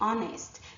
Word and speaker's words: honest: with an H but the H is silent and so what we're actually hearing at the start of these words is a vowel sound so we say honor we say our we say air we say honest notice that there's no